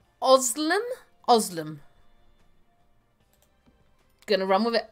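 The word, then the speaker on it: Özlem: Yes, correct pronunciation, but my name is Oslem.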